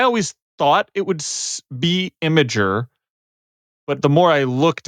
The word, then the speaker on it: Imgur: Imgur? Because yeah, see, Yeah, I I I think always it's say, supposed to be Im- pronounced Imgur. imager.